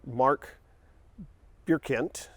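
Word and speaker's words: Marc Birkigt: the original founder of the company or co-founder mark bierkent his name is a little weird and difficult to pronounce it's Mark bierkent he was originally making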